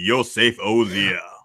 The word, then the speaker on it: Yosef Ozia: Joining us tonight is the Lord of Proud Boys, Yosef Ozia. Did I say that right? You said it right. It is me, Yosef Ozia.